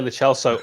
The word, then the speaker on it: Lo Celso: It's Giovanni Lo Celso, also the correct way for how to say it. Anyone South American watching any of these previews will agree with me.